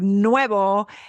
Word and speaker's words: nuevo: is that Troublesome word Nuevo is very close in pronunciation to Nueve for the number we want to be smiling at the end Nueve for the new